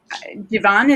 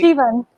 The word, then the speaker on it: Jivan: And one of the scenes that I found so powerful in your book is that Giovanni, is that how you say her name? How do you say? Jivan.